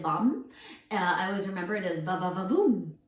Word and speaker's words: vam: which I always remember it's spelled v-a-m but said vom I always remember it